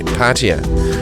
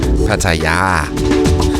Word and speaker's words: Pattaya: The British say Pattaya, we Danes say Pattaya, and the Thai people themselves say Pattaya.